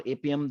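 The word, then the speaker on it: Appium: is the mobile automations you need a appom or apm that is what this multiple way you can pronounce it but apm is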